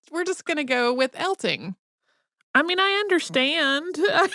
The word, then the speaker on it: Eltinge: eltone and right like that's not how you say that I mean I I want to say elton's just reading it because there's an e on the end right but no so for today it's elting and Julian L Ting